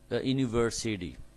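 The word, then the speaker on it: university: ইউনিভার্সিটি, ইউনিভার্সিটি American অ্যাকসেন্টে বলছি, British accent হলে ইউনিভার্সিটি, city, ইউনিভার্সিটি হতো। তো ইউকে উচ্চারণ করতে গেলে এখানে ইউ বলতে হচ্ছে।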